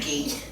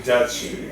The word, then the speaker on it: Dookie: Church of Trolandra is all the native religions that were here before the Dookie, before He Karamikos said came, Dookie. as opposed to Dutchy. I mispronounced it.